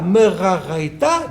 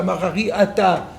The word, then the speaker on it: Meraraita: Rava Chabre de Rava, Ave Mehader, A Meraraita, Dedabra. Alors déjà, ça s'écrit plus pas pareil. C'est pas Marari Ata, c'est Meraraita, mais c'est Dedabra du désert.